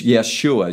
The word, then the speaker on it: Yeshua: among the Jews is Yeshua Yeshua says hebrew aramaic pronunciation of his name which is joshua in english but there's a transliteration